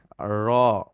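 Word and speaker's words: ر: এরপরে আমরা আসবো 10 নম্বর মাখরাজ, জিহবার আগার পিঠ তার বরাবর উপরে তালুর সঙ্গে লাগায় র।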